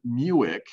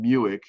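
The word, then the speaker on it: Mueck: changing gears here to ron muic rhymes with buick ron muic i saw this piece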